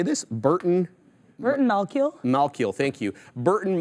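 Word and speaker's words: Malkiel: also how do you say this Burton Burton Mal malill thank you Burton malill um he posited that rwt was popularized by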